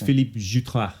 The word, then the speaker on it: Philippe Jutras: So it's Philippe Jutras. Yes. Have I pronounced that right? Wow, beautiful, excellent. Yes. Okay, that's exactly my name.